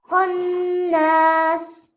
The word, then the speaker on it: خناس: So we have a nice rounded mouth and it's a strong sound. Khonnas. Khannas.